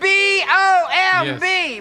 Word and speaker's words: bomb: do that all right see if this works b o m b bomb t o m b Tom no tomb